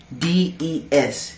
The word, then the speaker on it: Des: your name is destiny d-e-s you spell your name d-e-s-i-d-e-s not d-e-z death c des is how you pronounce it how you spell it how you say it i don't know where